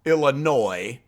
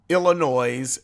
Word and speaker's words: Illinois: And I was born in Chicago, Illinois, not Illinois and not Illinois. It's not E-L-L, and you don't pronounce the S at the end.